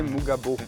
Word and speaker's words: Mugabo: Mugabo, c'est prononcé Mugabo. Ouais, alors mais moi j'ai pas l'accent Kinyarwanda donc... Mais c'est Mugabo, ouais.